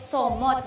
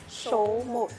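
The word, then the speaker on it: Số Một: It is in Tag, if you read it in Filipino, it's Somot. But how do you pronounce it in Vietnamese? Vietnamese say that show mode.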